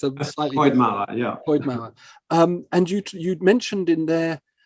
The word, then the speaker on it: Coed Mawr: I think I've got the pronunciation right, because obviously it's in Welsh, so it's a slightly Coed Mawr, Coed Mawr.